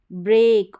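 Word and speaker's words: break: यानी जैसे ये रहा ब्रेक, और लंबा उच्चारण, ये जो ए करके ए का साउंड आ रहा है ना, ये भी लॉन्ग आएगा।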